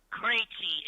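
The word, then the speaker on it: Krejčí: Krejci is how you pronounce his name. His name is Vito Krejci. You know, like David Krejci of the Boston Bruins.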